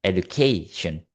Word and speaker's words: education: found forly is education from the base word of educate with the suffix of uh the suffixion extracts attract stress to the preceding syllable education And then the next word is musician.